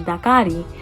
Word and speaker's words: Dakari: do you say his name and i'm like dakari like in spanish it's really not that hard